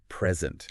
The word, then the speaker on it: present: But if you stress the second syllable, Present. it's a verb, A verb. meaning to give something. To give. So the stress changes everything.